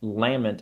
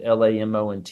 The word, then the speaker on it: Lamont: is how you say, and Lamont, Lamont, is the clan in my novel.